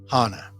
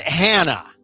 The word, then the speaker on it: Hana: show officially begins i want to talk about hana not hannah hannah this is significant and i was watching